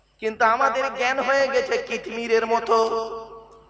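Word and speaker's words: কিতমীর: কিন্তু আমাদের জ্ঞান হয়ে গেছে কিতমিরের মতো। কি বললাম? কি বললাম? কিতমির। কি বললাম বলুন? কিতমির বলুন, উচ্চারণটা করুন। কিতমির। কয় হস্যই ত মো ময় দীর্ঘই র।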